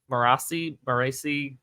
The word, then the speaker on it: Marasi: Marasi is how we want to say it. Audiobooks, so that's where the term, my pronunciation comes from.